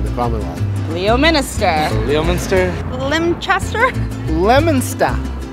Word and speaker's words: Leominster: Leominster. Leominster. It's not Leominster or Leominster, it's Leominster.